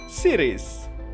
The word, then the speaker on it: Ceres: Bukan Ceres yang itu, tapi beneran planet yang dibacanya Sirius.